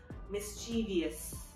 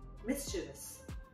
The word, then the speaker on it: mischievous: which is pronounced usually i've heard it being pronounced as mischievous obvious when if you think about it in the spelling there's no eye after the v so it should be mischievous all right and another very common one is